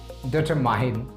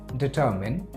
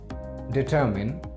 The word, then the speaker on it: determine: आई am afraid you read it डिटरमाइन। डिटरमाइन यही पढ़ते होंगे ना, डिटरमाइन, but this is wrong. The correct pronunciation of this word is determine, determine and determine.